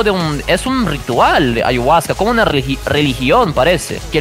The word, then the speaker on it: ayahuasca: hay huasca no conoces ayahuasca ponte Google ponte en Google hay huasca ya ponte ponte ponte Google hay huasca en portugués decimos a y vasca la pronuncia o sea básicamente yo